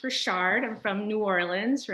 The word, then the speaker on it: Richard: For those of you, it says my last name is pronounced Richard.